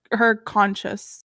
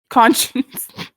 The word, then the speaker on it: conscience: I'm like her conscious. Is that what, how do you say it? Conscious? Conscience? Conscience. Conscious. I'm her conscience.